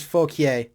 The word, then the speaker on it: Fauquier: The French pronunciation is Fauquier, but everybody I know pronounces it fuck your high school.